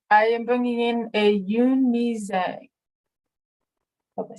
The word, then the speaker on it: Yoon Mi Jung: Yoon Mi Jung is the Mandarin pronunciation. The Americanized is Zhang and much more known. I actually have had people correct me and say, "Oh, you mean Zhang?"